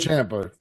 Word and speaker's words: Ciampa: Ciampa.